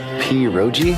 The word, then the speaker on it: pierogi: Pierogi? Did I pronounce that right?